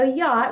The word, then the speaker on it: yacht: themselves sometimes um okay so yacht we've got a double underline arch because it is silent we don't hear it in that word um van do you